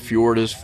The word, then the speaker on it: Fjord: So, I went with Fjord which is pronounced with the J in there.